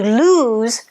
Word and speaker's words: lose: loose pair of pants notice the pronunciation to lose has a zed sound which you make with your tongue high in the mouth close to the back of the teeth and you vibrate the air through z whereas loose